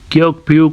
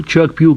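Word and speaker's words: Kyaukphyu: अच्छा, ये जो इनका आप देख रहे हैं ना क्योकप्यू, कुछ इस तरह से लिखा हुआ है, लेकिन ये असल में बर्मीज लैंग्वेज में इसको चोकप्यू कहते हैं। ये प्रोनाउंसिएशन इसकी इस तरह से होती है, इसकी वर्डिंग जो है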